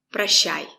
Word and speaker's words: Прощай: Прощай. Прощай. The stress is on I. Прощай. O is not stressed. We pronounce it as a. Pra. Прощай. Link the sounds.